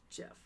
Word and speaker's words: GIF: Actually, it's pronounced Jeff.